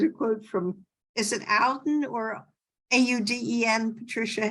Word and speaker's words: Auden: Here's a quote from, is it Auden or Auden, Patricia? How do you pronounce that? Auden, who, Auden.